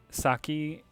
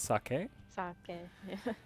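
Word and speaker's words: 酒: a little bit careful when you say saki and you mean the drink that's actually pronounced sake and saki means like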